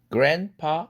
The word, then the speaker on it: grandpa: grandpa 할아버지인데 grandpa에서 grandpa 드가 생략되죠.